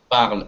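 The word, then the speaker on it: parlent: Будет je parle, tu parles, il parle, elle parle, nous parlons, vous parlez, il parle, ent не читается, elle parle, ent не читается. Если это касается глагола, формы глагола третьего да, множественного числа.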